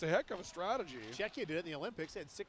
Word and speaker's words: Czechia: Is it Czechia or? Yeah, it is Czechia, not Chechia. Yeah.